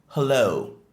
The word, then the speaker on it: hello: Il se dit en anglais hello. Hello. Le H est bien prononcé. C'est pas hello, mais hello. La deuxième syllabe du mot est la plus accentuée.